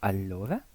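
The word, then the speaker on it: allora: el español lento y la doble l no es elle sino que es una l más larga Como por ejemplo alora o alenat la m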